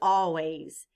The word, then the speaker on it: always: in the word always the letter s stands for the sound Z think of another word